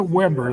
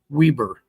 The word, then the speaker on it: Weber: Washington, Wayne, and I called it Weber the last time, but because of the power of the internet, we can reach and communicate. I got a comment back from someone that said, no, it's pronounced Weber.